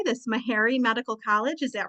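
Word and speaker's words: Meharry: should have asked you how to say this mahary Medical College is that right that's correct yeah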